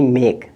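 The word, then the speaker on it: make: हो जाएगा एम ए के ई मेक क्या हो जाएगा मेक इसी तरह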